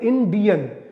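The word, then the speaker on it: Indian: जी हां, एकदम सही, डी आई जहां पर आता है इंडियन, डी पर हम सबसे ज्यादा स्ट्रेस कर रहे हैं।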